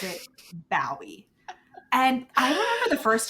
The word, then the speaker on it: Bowie: was like oh no he's a dog it's a pun like bow wow wow yeah and then rachel texted me this time and was like is bowie like is that on